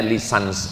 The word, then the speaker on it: licence: Bahasa bahasa Inggris cara membacanya lisans artinya ijazah.